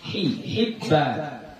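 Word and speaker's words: حبان: Bikasril ha, cara bacanya dengan mengkasrahkan huruf ha, Hibban.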